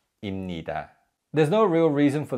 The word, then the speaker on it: 입니다: Now, although these verb endings begin with a syllable that has a 비읍 받침, the 비읍 받침 is read as 미음. So it's not 입니다 as it was for 입, which we learned earlier, but it's 입니다, 입니다.